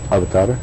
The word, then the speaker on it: avatar: Well, I pronounce it avatar like everybody else does, but I believe it's pronounced more like avatar.